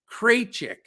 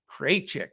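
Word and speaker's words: Krejčí: two guys out for oklahoma city favors and kraychik there we go i pronounced it correctly one of our wonderful listeners sent me uh information saying how to pronounce it it's vit kraychik so thank you sir um so that's the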